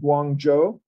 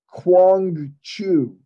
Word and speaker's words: Guangzhou: are guys so the the largest city in southern China is called Guangzhou right they pronounced it Quang Chu like that's a pretty bad ear yeah uh so